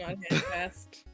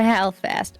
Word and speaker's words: Halfast: Halfast, whose name I mispronounced earlier. Aw. fast, not hand fast. Got a hand fat. Okay, Mr. Halfast.